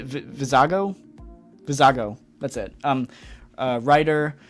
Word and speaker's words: Vizago: to get uh I'm not sure how to pronounce that name v vizigo v vizago vizago that's it um uh Ryder huk again I'm